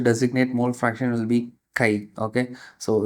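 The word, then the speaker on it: χ: So the symbol that I use to designate mole fraction will be Kai. Okay? So it's a kind of C hi. That's how we need to pronounce it.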